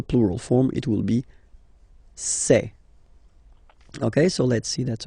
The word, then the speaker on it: ces: then set here and for the plural say say really open this e e say Okay so let's